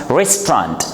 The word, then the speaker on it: restaurant: We have this word is two-syllable word and we pronounce it in two syllables, not in three.